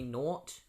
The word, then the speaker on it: Gnort: And it's this character called Nort. Or Gnort, however you want to pronounce it. I think it's supposed to be Nort. As far as I know,